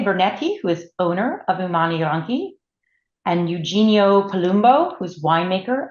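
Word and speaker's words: Umani Ronchi: We're starting with Umani Ranchi. So Michele, am I pronouncing that all correctly?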